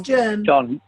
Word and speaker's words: Germ: Can someone help me pronounce the name of the URI president's unfortunate surname? It is Germ. John Germ. It is Germ.